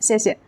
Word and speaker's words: 谢谢: Notice that the second syllable is usually light and unstressed, like 谢谢, 谢谢. And there are several useful sentence patterns with 谢谢.